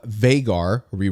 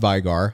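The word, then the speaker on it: Veigar: All right, next up we have Vaggar, not Viggar. I have had a small attachment to Vigar, but I'll try to pronounce it correctly from now on.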